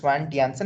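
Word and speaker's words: Svante Janson: Swan Janssen okay so there is a j but I don't know why but they pronounce it as a y okay so if I'm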